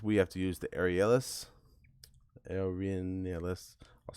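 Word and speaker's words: Arrhenius: right and this we have to use the arielis aeronautics i'll spell it u a-r-r-h-e-n-i-u-s equation which is k the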